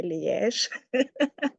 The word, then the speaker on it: Liège: Yes, in English you can say Liège, yeah, but in French they pronounce the E as a yeah, so it's a Liège.